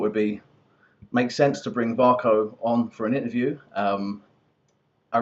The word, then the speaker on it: Vako: Is that how you pronounce it? Yes, that's correct. Vako.